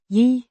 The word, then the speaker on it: Jeg: Means I, pronounced Yigh.